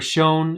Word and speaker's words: chown: It's the chown command, or shown as it's sometimes pronounced.